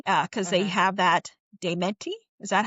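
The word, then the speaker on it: daemati: We think that they Well, at least we believe they're both hi uh cuz they have that dementi. Is that how you pronounce it? Deari.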